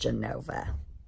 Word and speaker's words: Genova: E and O but in Italian it's Genova and it's pronounced Genova and all their signs